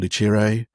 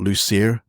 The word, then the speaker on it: Lucire: A friend of mine came up with the name Luchere. Um a lot of people call it Lucier uh which is how it's spelled. And um but my friend was learning Italian at the time. So she said Lucher and and so I